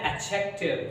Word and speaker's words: adjective: जी हाँ, यहाँ पे आप देखेंगे जो एडजेक्टिव है उसका प्रोनाउंसिएशन करते समय आपको डी के ऊपर ज्यादा स्ट्रेस नहीं देना है। जी हाँ, आपको डी के ऊपर ज्यादा स्ट्रेस नहीं देना है, इसे कहना है एडजेक्टिव।